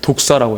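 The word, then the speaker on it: δόξα: 그것을 독사라고 해요. 독사. 그래서 독사라는 것을 발음으로 독사라고 이야기합니다.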